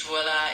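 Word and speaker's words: voilà: In French, voila is pronounced more like voila, with a soft V sound at the beginning and a gentle sound at the end.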